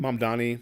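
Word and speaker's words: Mamdani: Mom Donnie.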